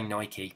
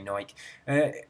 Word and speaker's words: Nike: We're supposed to say Porsche, we're supposed to say Nike, but we don't. We say Porsche, we say Nike. It's almost everybody in England says Porsche. Almost everyone in England says Nike. I mean, I've been into a Nike shop and they say Nike in the shop, but we know it's Nike, we know it's Porsche.